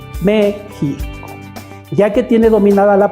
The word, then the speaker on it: México: a dividir esa palabra se divide en tres sílabas la primera sílaba acentuada entonces vamos a decir al niño que repita la palabra mexico siempre dándole énfasis al acento méxico gméxico y le vamos